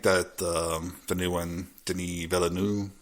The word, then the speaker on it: Denis Villeneuve: But I think that the new one, Denis Villeneuve, is that how you pronounce it? A little more French, please. Villeneuve.